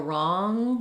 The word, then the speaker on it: wrong: kind of far back there um so for wrong I would just maybe try other words that